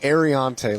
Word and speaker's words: Ariante: He was like, it was like Ariante, like the air we breathe, and he had the hand motion too.